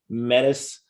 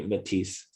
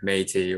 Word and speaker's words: METIS: from and it's everybody kind of gets it pronounced it weird some americans like to say menace but it's actually matisse right yeah i was going with like metis or you know going like full french in